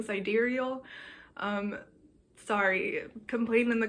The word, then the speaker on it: sidereal: Aries season meanwhile the sideral I don't know if I'm pronouncing that right I think I've heard someone pronounce it side real but I don't like that so I'm going to be saying siderial um sorry complain in